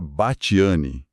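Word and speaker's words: Batthyány: Tipo, você lê Bateriane e pensa numa pronúncia toda complicada. E na verdade hoje se pronuncia bati.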